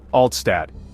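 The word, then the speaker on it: Altstadt: And there's no better place to start than Oldtown, or as the locals say, Altad.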